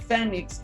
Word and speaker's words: Fenix: And I pronounce it Phoenix because it's an F-E, not a P-H. So it's not a mistake due to my nationality, it's because it's a Phoenix infrastructure, and where scientists